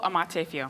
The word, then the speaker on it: Amartefio: How do you say your name? Oh, Amartefio. Okay. Amartefio. And I'm Millie Magno, you got that.